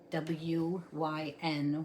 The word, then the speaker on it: Wyn: So today's rune is the rune Wyn, W-Y-N, Wyn, in the Anglo-Saxon Futhark, and it is called Wunjo.